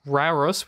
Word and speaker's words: Rauros: At the falls of Rauros, which I could never learn to pronounce, R-A-U-R-O-S, Rauros.